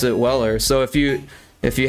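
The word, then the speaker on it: Euler: If you were to pronounce it phonetically, it's Uler, but it's the guy's name is actually Weller is how you pronounce it.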